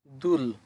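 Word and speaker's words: 둘: পরবর্তী শব্দ দুল। কিভাবে দুল হলো? উপরে আছে দেখেন দ্বিগুত, দ্বিগুতের দ, যেহেতু উপরে আছে প্রথম বর্ণ উচ্চারণ হবে দ, এটা সাথে আছে তাহলে দ যোগ দু। নিচে কি আছে দেখেন, নিচে আছে ব্যঞ্জন বর্ণ রিউল, রিউল, রিউল নিচে বসলে শেষের বর্ণ উচ্চারণ হবে ল, তাহলে দ যোগ দু, নিচে ল, দুল, দুল মানে হচ্ছে দুই।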